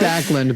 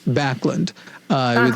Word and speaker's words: Backlund: She said Backlund, but it's pronounced Backlund.